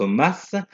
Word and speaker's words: Omos: Bro contre Styles et Omas, parce que ça s'écrit Omos mais ça se prononce Omas.